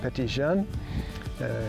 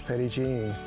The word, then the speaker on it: Petit Jean: They pronounced it Petit (jun). In Arkansas, it's come to be known as Petit Jean.